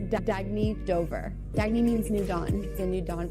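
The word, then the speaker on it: Dagne: you can live life intention Al oh it's pronounced dagy do dagy means New Dawn a new dawn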